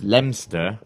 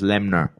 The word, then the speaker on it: Leominster: And just down the road is a place called Leominster, is how you spell it, but it's Leominster. But if you're proper local, it's Lemner.